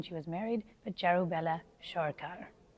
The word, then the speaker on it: Sircar: And Sircar is like, it's spelled Sircar, but it's pronounced Sharkar.